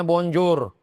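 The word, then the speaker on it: bonjour: L tulisannya Bonjor menanyanya Bonjo.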